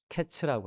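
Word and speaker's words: קץ: 자, 끝이라는 단어는 캐츠라고 합니다. 여름 과일은 카이츠고 끝은 캐츠입니다.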